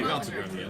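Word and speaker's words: Gauntlgrym: And he's in a place called Gauntlgrim. What? Am I saying it wrong? No, Gauntlgrim was Okay, Gauntlgrim, yeah, Gauntlgrim.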